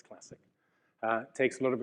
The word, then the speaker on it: Classiq: from the name and there are many people who Wonder how it's pronounced but on the record it's classic uh takes a lot